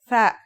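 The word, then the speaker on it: ث: Our final letter is tha. That's like the TH in the English word thief.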